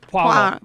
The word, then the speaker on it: Poirot: Say wa. Wa. Say foie. Foie. Say pois. Pois. Boom. Poirot.